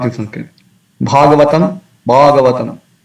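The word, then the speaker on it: भागवतम्: Bhagavatam, Bhagavatam. In Tamil devotees, they tend to pronounce ba instead of bha. So often they say Bhagavan or Bhagavatam. So it is not Bhagavatam, it's Bhagavatam.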